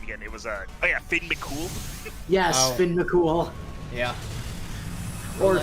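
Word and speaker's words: Fionn mac Cumhaill: If you read it as it's spelled, his name would be pronounced Fion Macum Hal, but it's actually pronounced Finn McCool.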